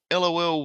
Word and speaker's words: LOL: And I'm like, why would you even write it as LAWL? Oh, because that's how you say it.